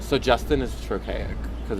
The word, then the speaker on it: Justin: So Justin is trochaic because it's trochee. Because like Justin. Does that make sense? But if it was like Justin, it'd be like an iamb but it's Justin, so it's like trochaic. A lot of two-syllable names are trochaic.